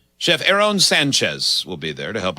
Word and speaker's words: Sanchez: They broke it up as though it's 3 syllables. Sanchez. Here's how they have. Sanchez. Here's how they wrote the pronunciation for Sanchez, which has always been pronounced Sanchez.